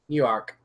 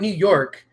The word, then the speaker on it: Newark: Jersey Jersey close enough new Ark new arc how do you pronounce it cuz it's not New York it's new Ark oh no work Newark New Jersey yeah I